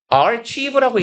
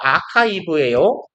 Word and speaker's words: archive: 화학적인 AR 이거 Rive라고 읽지 말고 아카이브예요.